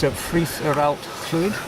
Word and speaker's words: Ffridd yr Allt-lwyd: I hope Welsh listeners don't take too much notice of my pronunciation. It's Ffridd or Allt-lwyd.